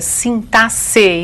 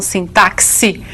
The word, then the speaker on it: sintaxe: Hoje eu vou me preocupar em ver com vocês uma parte da sintaxe, e é assim mesmo que se pronuncia, sintaxe e não sintaxe, como alguns querem, não é?